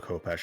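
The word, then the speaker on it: khopesh: I mean, it's called Kopesh in English, but apparently the proper pronunciation is Chepesh.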